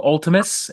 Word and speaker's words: Vltimas: got a brand new band semi brand new Ultimus am I pronouncing that correctly yes you are absolutely sophomore